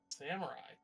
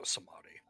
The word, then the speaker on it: Samedi: Samurai. That's probably not how you pronounce it, but it's probably a long A. Smoke, are you here? Sorry, I was muted because I was eating. That's fair. Yeah, I believe it's pronounced Samedi. That would make more sense.